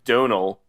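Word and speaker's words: Domhnall: i've seen better from donald gleason that's and rachel mcadams donald gleason it's donal he said you sound like you said donal dom hall dom nall he's he pronounces it donal yes which i learned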